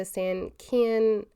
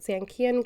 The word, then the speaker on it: Sankeien: our first outing In Japan, we went to Sankeien, I think that's how you say it, Sankeien Garden in Yokohama, and it was like this